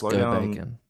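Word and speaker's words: Gobakhan: It's pronounced Go-Bacon.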